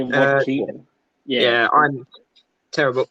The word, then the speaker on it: Joaquin: So, paved kept that streak of the fact that both him, Jonah Phoenix, and I probably butchered his name just then, and I think it's Joaquin Phoenix. yeah, Joaquin.